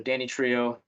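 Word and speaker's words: Danitrio: So Danny Trio, that's their brand.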